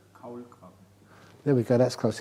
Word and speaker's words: Kaulquappe: I told it so many times that even for German-speaking Buddhists, I know the word for tadpole is a kohlkopper. I probably pronounced it terribly, but how would you pronounce it? Kaulquappe.